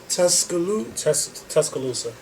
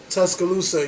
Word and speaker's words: Tuscaloosa: Tuscaloosa. Tuscaloosa, you know, it will be rebuilt.